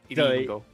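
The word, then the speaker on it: りんご: Is it actually pronounced Ringo? In Japanese? Yeah, exactly. I got a sharp E. Ringo.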